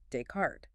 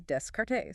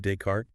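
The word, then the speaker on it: Descartes: And she'd read the name of the famous philosopher Decart. Using English reading rules in her head, she pronounced it, you know, logically as descriptes.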